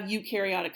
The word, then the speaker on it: eukaryotic: for this one EU is pronounced y-o-u and you have eukaryotic cells so all animals